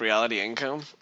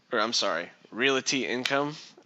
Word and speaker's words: Realty Income: Now that you bring up reality income, realty income. That's how it's said, right?